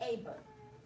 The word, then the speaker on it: Eber: Eber is, it's spelled E-B-E-R, but it's really Aber.